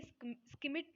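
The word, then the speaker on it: Schmidt: ये स्किमिट ने दी थी। ठीक है, डी वहाँ पे साइलेंट हो जाएगा।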